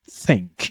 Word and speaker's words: think: I mean, in terms of dictionary, it should be pronounced think. You have to put your tongue between your teeth.